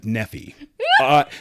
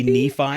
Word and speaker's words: Nephi: Nan's got it right I Nei some people pronounce it nephy that's how you can tell if somebody's from Utah or not if they say Nephi because there's a town called Nephi in Utah